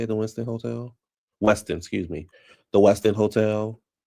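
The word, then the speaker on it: Westin: in um in DC at the at the Winston. Is that how you say it? The Winston Hotel? Weston, excuse me.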